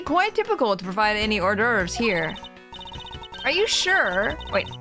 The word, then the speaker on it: hors d'oeuvres: It would be quite typical to provide any hors d'oeuvres here.